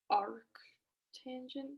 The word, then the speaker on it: arctangent: tangent to solve for theta gallery except like arc tangent thing exactly yeah so there's yeah so there's